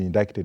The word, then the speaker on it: indicted: C is the C is silent you know I can't but you're pronouncing it the correct way.